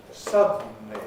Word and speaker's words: suddenly: count syllables in english suddenly has three syllables suddenly suddenly suddenly it has to have three syllables suddenly but it doesn't need an actual vowel between the d and the end you could say suddenly